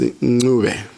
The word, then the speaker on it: Ncube: which is now Zimbabwe, I can confidently say your name is pronounced Ncube.